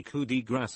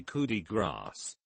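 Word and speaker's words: coup de grâce: same thing happens when people say cootie grass is cootie grab because french words seem to just not have their last consonant pronounced but it's actually cootie grass because what you don't pronounce is the final letter which in gratitude you still pronounce the c edit since this has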